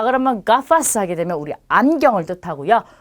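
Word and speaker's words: gafas: 자, 우선 뒤에 모음이 아, 오, 우로 오는 경우는 기역 발음이에요. 그래서 자, 이 단어는 가파스라고 읽고요. 자, 이 단어는 고르도라고 읽겠죠. 그 다음에 이 단어는 구스토라고 합니다. 자, 그러면 가파스 하게 되면 우리 안경을 뜻하고요.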